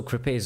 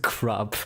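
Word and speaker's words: crêpe: It's pronounced crap. No, you gotta pronounce the A a bit more. Crepe. Yeah, I like me some good crabs. Like grape, but with a K sound in the front.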